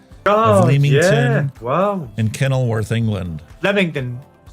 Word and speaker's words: Leamington: Leamington. It's pronounced Leamington and Kenilworth.